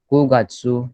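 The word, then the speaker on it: 九月: Okay, सो सितंबर का ध्यान रखना आपको, क्यों नहीं है वो कू है. Okay, so Ichigatsu, Nigatsu, Sangatsu, Shigatsu, Gogatsu, Rokugatsu, Shichigatsu, Hachigatsu, Kugatsu, Jugatsu, Ju Ichigatsu, Junigatsu.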